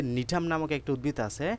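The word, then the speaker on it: Gnetum: নিতুফাইটা এই নিতুফাইটার যে নিঠাম নামক একটা উদ্ভিদ আছে এটার জি উচ্চারণ হবে না নিতুফাইটা উচ্চারণে নিঠাম উচ্চারণে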